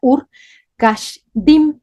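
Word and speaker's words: אור כשדים: caldeos se escribe bueno se pronuncia Ur Cash diim eso es Ur de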